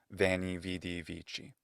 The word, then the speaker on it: veni, vidi, vici: Often they've heard it first in that ecclesiastical pronunciation, veni, vidi, vici. It sounds absolutely cool, just like everything in ecclesiastical pronunciation. And then they go, it's not going to be wanny, weedy, winky.